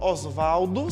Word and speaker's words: Oswald: sobre sujeito osvaldo andrade preferia inclusive que o nome dele fosse pronunciado como se fosse a palavra osvaldo sem o ó em vez da pronúncia em inglês e com estrangeira oswald beleza então sempre a